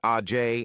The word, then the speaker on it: Age: Now, at 18 years old, Sage had 2 sisters, Age, pronounced Ajay, and Lage, pronounced Lajay Smith, and 2 brothers, Fremont, pronounced Fremonte, and Tremont, pronounced Tremonte Jones.